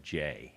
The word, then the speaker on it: Gex: Everybody's seen that GEX, and you need to realize that's an old Kentucky name with a unique pronunciation of J.